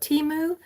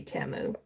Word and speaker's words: Temu: ordering on TAMU and I used to call it teu but then I've heard that that other people those who know better than me pronounce it correctly and it's supposed to be TAMU so then another thing